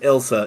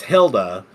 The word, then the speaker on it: Hylda: of ELD drain is Elsa no I'm sorry pronounced that wrong it's Hilda uh of of the icy